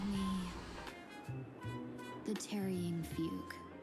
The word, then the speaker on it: Fugue: Just call me the Trying Fug. Oh, it's pronounced fugue.